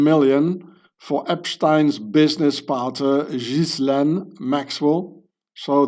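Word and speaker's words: Ghislaine: The UBS, the bank managed up to 19 million for Epstein's business partner, Jizlan Maxwell. So, this name is being pronounced Jizlan. It's an old medieval French uh name, Frank name.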